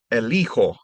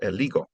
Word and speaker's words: elijo: And elegir becomes elijo in the yo form instead of eligo.